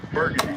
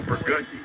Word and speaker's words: Burgundy: pronounce the streets because it's not burgundy it's burgundi oh boy yeah that